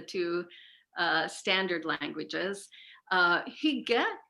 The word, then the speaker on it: hygge: uh standard languages uh higa is spelled h y g g e so he has a little bit of a sharp vowel sound and then the